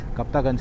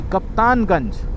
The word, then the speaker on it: कप्तानगंज: कप्तागंज करके एक जगह है यहां पे। नहीं, कप्तानगंज, ओके। कप्तानगंज। गलत प्रोनाउंसिएशन कर लिया मैंने।